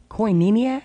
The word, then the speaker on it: Koinonia: I can't find it anyway it is the Koinonia what is it the canina Koinonia Koinonia yeah kay oh I in O in I